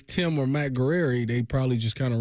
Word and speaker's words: Guerrieri: What's how you pronounce his last name? Oh, Matt Guerrieri.